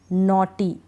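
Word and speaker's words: naughty: अब इसमें भी ऐसा ही है, थाई, I के बाद GH है, नॉटी, AU के बाद GH है, तो हम नहीं पढ़ रहे हैं, ठीक है।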